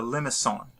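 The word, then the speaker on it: limaçon: This shape, and shapes like this, are called a limison. So it's a, actually it's a C, not an S. It's pronounced like an S in English, but it's actually a French word, and it's that C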